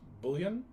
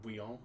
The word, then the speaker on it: Bouillon: There was this guy named Godfrey of, I think it's pronounced Bouillon, but it looks like Bouillon, but it's actually, it's like Bouillon.